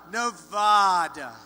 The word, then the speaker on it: Nevada: look at the light Donald seemed delighted with his own pronunciation Nevada nobody says it the other way it has to be Nevada actually Donald wrong this is right nevada at one rally get this